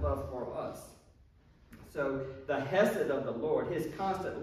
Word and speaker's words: hesed: It's called hesed.